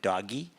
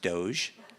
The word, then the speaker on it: DOGE: it first came out I pronounced it doggy but I think it's pronounced Doge so maybe Scott you